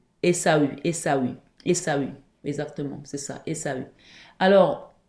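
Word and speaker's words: Ésaü: Esaou je sais plus comment ça se prononce. Esau. Esau. Essau.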